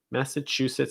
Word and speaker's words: Massachusetts: sir massachusetts massachusetts massachusetts and you're going to stress the chew that's the syllable distress massachusetts after that we have